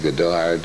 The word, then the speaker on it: Goddard: Since Goddard was an American, it would be pronounced Goddard, wouldn't it?